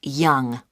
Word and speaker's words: Yonge: That's spelled Yonge. That's Young.